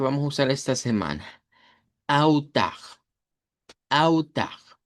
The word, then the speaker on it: altar: La palabra en español es altar, pero en portugués la L se convierte en una U corta o una W, dependiendo de cómo lo querramos pronunciar. Y con R uvular al final.